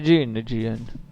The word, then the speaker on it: Jean: Jean, si legge Jean.